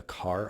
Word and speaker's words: char: the variable would be a car or char depend on how you want to pronounce it I've both either ways fine it's gonna be one